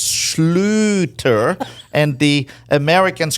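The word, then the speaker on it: Schlüter: It's the U with the two dots. It's an oo.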